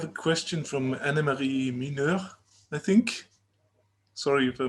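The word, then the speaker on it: Mineur: question from anna marie miner i think sorry if i mispronounce your name hi i'm uh anna marie minour that's the dutch way of pronouncing it the french way also you're happy to pronounce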